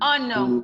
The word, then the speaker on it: honor: Honor. That H is not pronounced. We call it honor, not honor. Honor.